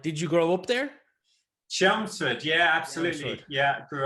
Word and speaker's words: Chelmsford: out that you went to high school in helmsford just outside of london i don't know if i'm pronouncing that right did you grow up there chelmsford yeah absolutely yeah i grew up there any